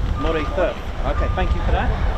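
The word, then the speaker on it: Moray: you pronounce that correctly is it Murray M it is m not used to call it it's Mor okay thank you for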